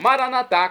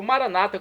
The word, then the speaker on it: Maranatá: E agora eu clamo Maranatá, como dizemos nós católicos, ou Maranata, como dizem nossos irmãos das comunidades evangélicas ou protestantes. Não importa a pronúncia, o significado é o mesmo.